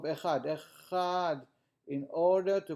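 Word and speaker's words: אחד: A person should prolong his pronunciation of the ches of Echad, in order to pronounce God as king in the heavens and on earth and the earth.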